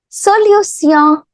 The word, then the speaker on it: solution: But how do we pronounce this T-I-O-N? There's a small trick. You can pronounce this T-I-O-N as sillon. Sillon. Okay, so hence we say la solution.